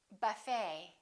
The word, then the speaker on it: buffet: the et ending and in the french language the t is almost always silent so english speakers pronounce it the same way we don't say ballet we say ballet a few more e.t endings bouquet like a bouquet of flowers buffet valet and one more chevrolet we don't say chevrolet